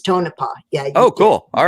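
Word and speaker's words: Tonopah: want to forget you you did pronounce tone up correctly when it is tonipah yeah oh cool all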